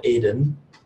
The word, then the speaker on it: Eden: creation, which he called Aden, which was a new pronunciation for me, maybe. It's actually in Hebrew, you just say Eden.